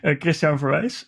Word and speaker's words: Christiaan Verwijs: First of all, you pronounce my name perfectly, which is not very common. So thank you for that, Christiaan Verwijs.